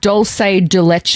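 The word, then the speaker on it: dulce de leche: It's doulce de leche.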